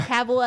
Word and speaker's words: Cavill: And yes, that's Cavill as in rhymes with travel, as he said in one of his videos.